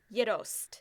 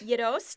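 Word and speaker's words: gjetost: It's called Yidost. Never heard of it. Yidost is spelled Gjeost.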